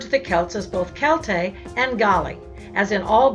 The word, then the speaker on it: Celt: Although the word Celt is sometimes pronounced with an S sound, as in the Boston Celtics, the K sound is now preferred because it's more true to the original Greek and Latin pronunciation.